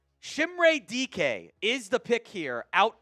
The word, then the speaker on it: Dike: So Chimere Dike is the pick out of Florida. It is pronounced DK. It's not the other words that you could maybe potentially interpret that as. DK.